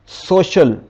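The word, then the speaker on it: social: है शीन इसी तरह एस ओ सी आई ए एल यहां पर सी ए आया है इसलिए यहां पर सी की आवाज़ हो जाएगी शिन सोशल जी तो नेक्स्ट साउंड को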